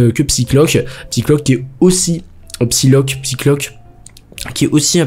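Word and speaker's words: Psylocke: Alors la seule différence du coup avec le personnage de de je dis Psychlock depuis le début mais c'est Psyloc.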